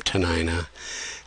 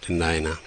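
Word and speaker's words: Dena'ina: franka of its time so da denina became tanina and sort of stuck in the literature but we've U Jim Cary and Jim fall and others have been active in using the more accurate pronunciation and spelling denina so this is uh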